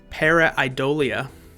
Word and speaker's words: Pareidolia: Para-Idolia I think that's how you pronounce it.